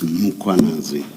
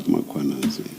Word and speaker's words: Mkhwanazi: The a is after the h. So it's muanazi, not muanazi.